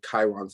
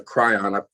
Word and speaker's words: Kryon: lot to do with chiron's energy the kryon excuse me for the mispronunciation the energy um of